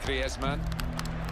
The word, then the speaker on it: Griezmann: before the World Cup how to pronounce his name properly. He's very much his Spanish background. So he talks to his dog in Spanish and dreams in Spanish, so I think we can pronounce his name the Spanish way, Griezmann.